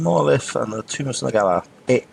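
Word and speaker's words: Sun'Agalla: Iron Monolith and the Tomb of Sun Agala. Sun Agala is spelled S-U-N, new word, A, apostrophe, G-A-L-L-A.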